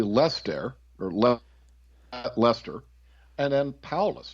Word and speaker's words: Paulus: It would be very, very similar it would be Lester, or Lester, and then Paulus, just really Paul with a U-S on the end.